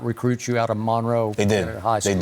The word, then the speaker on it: Monroe: That's how you say it, Monroe. Because when I was there, I thought it was Monroe, but they say Monroe, right?